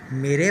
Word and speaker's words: माँ: यहाँ माँ, तो चंद्र बिंदी है इसलिए माँ थोड़ा और लंबा करना है, बिल्कुल माँ नहीं लेकिन